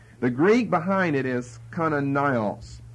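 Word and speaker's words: Kananaios: The Greek behind Matthew and Mark is Kananios. I'll spell it in English for you. K-A-N-A-N-A-I-O-S. Kananios.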